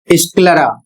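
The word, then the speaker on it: sclera: अगला शब्द है एस सी एल ई आर ए स्क्लरा।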